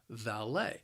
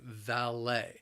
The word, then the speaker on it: valet: cars they are the valet the word has two syllables the stress is again on that second syllable and the problem is the same that l-e-t is pronounced lay valet valet parking is five